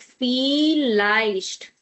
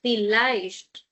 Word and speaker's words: vielleicht: Viel plus leicht. I'm writing it with plus just to make you understand the pronunciation and spelling. It's like vielleicht, vielleicht, vielleicht.